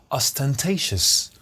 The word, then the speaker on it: ostentatious: You need to stress the right syllable. Ostentatious.